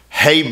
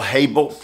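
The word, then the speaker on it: hebel: only place to begin is the word vanity Hab let me spell it for you h e b e l Hab we have had it before uh the word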